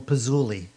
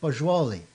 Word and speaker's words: Poggioli: and I remember once saying, "Hey Caesar, that's not how you pronounce your name, is it?" And he goes, "No, no." He says, "Poggioli." So I said, "Oh, okay, that's pretty cool, Poggioli.